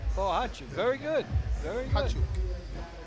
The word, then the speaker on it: Bohachuk: Pronunciation on the sheet. So, Harry? Bahachuk. Bahachuk. Sergei Bahachuk. That's right. Bohachuk.